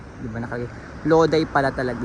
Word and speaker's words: Lodi: ko lang nakita na ayan ' ba nak loday pala talaga loday pala ang pagkaka-pronounce sa kanya masarap maglakad-lakad ngayon kasi ah